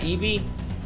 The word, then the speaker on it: Eevee: Sunny just said it right. Yep. Well, it's Eevee. Well, it's Eevee.